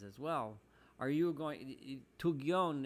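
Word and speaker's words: תוגיון: Tugyon is from, or Togyun is the way it's pronounced poetically here, is from the language of Yagon, of worry and anxiety.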